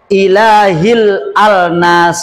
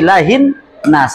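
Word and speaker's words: إِلَٰهِ النَّاسِ: alif lam di sini Kenapa dibacanya tidak ilahil alnas Enggak kan ilahil Nas tidak tapi ilahin Nas langsung nunnya Kalau yang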